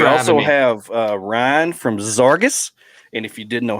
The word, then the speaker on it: Zarges: We also have Ryan from Zarges. And if you didn't know how to pronounce it, that's how you pronounce it.